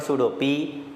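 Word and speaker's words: pseudo: मैं उसको FP भी लिख सकता हूँ, P stands for सूडो, P से स्टार्ट होता है ना सूडो, साइलेंट, FP, ठीक।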